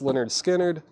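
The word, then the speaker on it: Lynyrd Skynyrd: uh comment in the comment section Leonard skinnard pronounced lonard skinnard kiss creatures of the night Cindy Lopper she's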